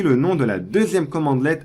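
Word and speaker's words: cmdlet: suivent la même syntaxe les commandes powerersell se nomment CMD let et on les prononce commande let sachez que vous avez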